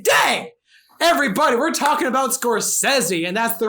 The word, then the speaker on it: Scorsese: is a good day everybody we're talking about scorsese and that's the right way to pronounce it none of this scorsese bull crap scorsese is the man himself says scorsese yes that sounds very fast oh yeah nose